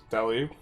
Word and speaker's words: Delhi: He's definitely pronouncing Delhi on mispronouncing Delhi on purpose. Is it Delhi or Delhi? Delhi.